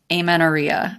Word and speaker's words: amenorrhea: Moving on to our next question, we are diving into amenorrhea.